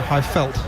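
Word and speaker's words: Highveld: On the high veld. Did I pronounce that right? Yeah, high felt. Yeah, it's close.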